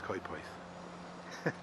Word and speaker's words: Coedpoeth: Or you can come from Coedpoeth. Have I pronounced that slightly better? I've worked on it a little bit, but I believe it's Coedpoeth.